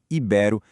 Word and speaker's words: ibero: O jeito certo de falar é asvaru, filantropo, ibero e claro, voltando lá na nossa primeira pergunta, recorde, em todas elas, sem exceção, a força tá na penúltima sílaba.